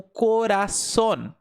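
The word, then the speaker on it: corazón: É por isso que essa palavra aqui você lê como coraçon. coraçon, porque o S possui esse som de dois Ss.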